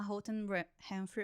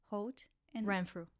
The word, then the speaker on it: Holt Renfrew: Voltando pra sua história, então você trabalhou na Holt Renfrew, eu sempre nunca esqueço, sei como pronunciar. Holt Renfrew. Renfrew. É difícil de falar, gente. Não fale o and, que daí você vai se confundir.